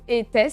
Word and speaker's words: Aétès: Ça s'écrit Aétès, mais il y en a qui disent Étès. Donc, Aétès et Étès, je vais dire Aétès, moi, personnellement.